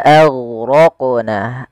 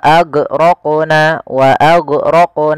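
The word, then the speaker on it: أغرقنا: Kemudian pelafal wa aghraqna, a tipis, ghainnya tebal. Nah, ini juga huruf ghain sering terjadi, intabihu, hati-hati jangan sampai memantulkannya. Contoh wa aghraqna, ini memantulkan huruf ghain.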